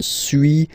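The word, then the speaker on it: suis: to pronunciations okay so first one Su as you've been noticing you don't pronounce the final s okay and for to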